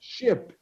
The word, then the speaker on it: ship: ship. Like the Titanic was a big ship. Okay? Okay. Okay. Then you Ship.